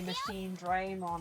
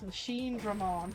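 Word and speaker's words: Machinedramon: It's like I played through the whole of Next Order having to hear them say Machine Draymon, and I'm like, well, how? That's not how you pronounce Machine Dramon.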